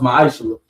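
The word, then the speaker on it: מעשר: Means tithe in Hebrew, and it's pronounced ma'aser.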